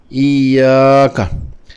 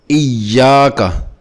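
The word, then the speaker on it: إياك: نعبد و ایاک نستعین۔ اگر اسی حرف یا مشددہ کو نبر سے نہ پڑھیں تو ایسے لگتا ہے کہ یا ساکنہ پڑھی ہے لمبی کر کے، ایاک، جو کہ غلط تلفظ ہے۔ صحیح تلفظ ایاک، ایاک، یعنی کہ زور دے کر پڑھنا ہے۔ اسی قاعدہ کا دوسرا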